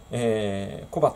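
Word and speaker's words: 小畑: 小畑と読むんだそうで、私最初、小和田かと思ってたんですけどね。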